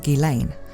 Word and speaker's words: Ghislaine: for her name in Japanese and I'll be pronouncing it in the closest English way to that from now on which is gilain apparently it's not just me though because in